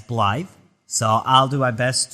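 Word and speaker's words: Blaidd: the half wol uh in this game you're actually going to hear the NPCs pronounce him as blly so I'll do my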